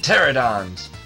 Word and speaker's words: Pterodon: Oh, come on, another battle against these pterodons. Pterodon? Wait a minute, you don't pronounce the P. Anyway. Pterodons, yes. That P is silent.